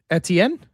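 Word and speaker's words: Etienne: Etien.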